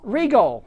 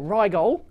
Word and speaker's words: Rigol: wigg there you go that's clearly saying Regal or Rial you know I I pronounce it Rial but uh Regal it's